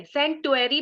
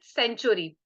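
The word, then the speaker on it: Centaury: टी ए आर वाय सेटरी भी कई लोग बोलते बट आई प्रोनाउंस ट सेंचुरी सेंचुरी इ फॉर दोस पीपल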